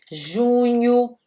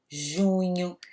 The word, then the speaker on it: junho: Maio, junho. Esse dígrafo, isso chama dígrafo, a junção de duas vogais, é nha, ok? O som é esse.